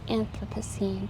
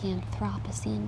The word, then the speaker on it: Anthropocene: Right now we're in the Anthropocene, or the Anthropocene, depending on what country you come from. The Brits and the Americans pronounce it differently. I believe the Americans say Anthropocene and the British people say Anthropocene.